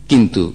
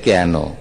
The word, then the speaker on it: কেন: যদি বলা হয় ওই শাড়িটা কেন কেন না, শাড়িটা কেন কেন না, কেন বানান কি কয়েকার আর ন, কেন বানান কি কয়েকার আর ন।